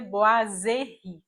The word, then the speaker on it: boiserie: correto é bo a e esse S que vem depois tem o som de z então a pronúncia correta seria boazeri E por que eu